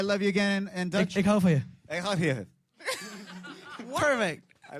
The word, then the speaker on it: Ik hou van je: Ik hou van je.